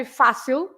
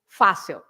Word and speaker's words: fácil: So, for example, if you say fácil, easy, there's a feather, yes. So fácil has an accent on the first part of the word, but that means that you have to stress fa, right? So fácil.